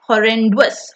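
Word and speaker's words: horrendous: होरेंडुअस इसकी प्रोनाउंसिएशन सुनो। होरेंडुअस होरेंडुअस terrific art.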